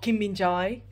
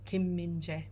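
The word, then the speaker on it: Kim Min-jae: is e um so for Kim minje it's not Kim binjai it's Kim minje um and also so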